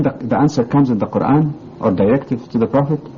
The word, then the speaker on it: Quran: on my pronunciation myself of Quran long a uh how about the